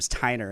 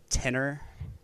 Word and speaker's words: Steiner: I mean I have my last name Steiner and everybody's like tinner oh yeah I was